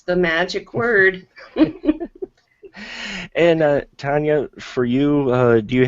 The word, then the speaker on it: Tonjia: projects uh yeah everything's under my name it's Tanya and it's spelled t NJ I a atomic so if